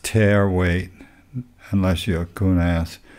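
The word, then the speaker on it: tare weight: And yeah, that's pronounced tear weight, unless you're a coon ass.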